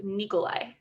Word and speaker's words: Nikolai: will pass over to nikolai that's how i'm saying it you can say it like that you're allowed uh nikolai nikki